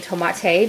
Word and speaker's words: tomate: Actually says tomato, but I'm just saying tomate because that's how you say it in Spanish.